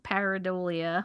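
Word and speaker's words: pareidolia: But she's also saying they're also saying they think that this is parad paridolia. I can't even know how to pronounce that word.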